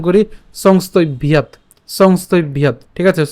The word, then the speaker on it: সংস্তভ্য: তাহলে আমরা যদি একসাথে উচ্চারণ করি সংস্তভ্যাৎ, ঠিক আছে, সংস্তভ্যাৎ।